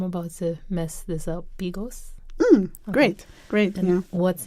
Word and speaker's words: bigos: First of all, you have to give us the proper pronunciation because I'm about to mess this up. Bigos?